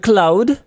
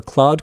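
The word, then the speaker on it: Claude: Anthropic, the company behind cloud, which is how I pronounce it, accidentally leaked the entire source code of cloud code, their AI powered coding assistant on March 31st.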